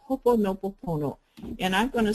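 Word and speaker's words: Hoʻoponopono: actually it's hopeful ponopono the accents on the first syllable it's h o accent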